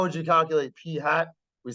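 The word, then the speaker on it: p̂: in math whatever but this is pronounced um P hat let's just go with P hat okay so then the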